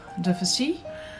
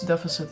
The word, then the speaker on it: Deficit: as with the Madame Deficit. I mean, it's deficit in English, but I think in French it's deficit, so I'm pronouncing it like that.